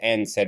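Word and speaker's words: NSAIDs: sensitivity NSA AE DS by the way they pronounced as n said which are used to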